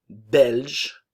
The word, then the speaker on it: belge: ne se prononce pas nationalité belge belge la Bulgarie ok attention